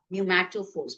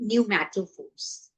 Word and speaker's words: pneumatophores: Um, C part, pneumatophores. P is silent, starting from N, pneumatophores.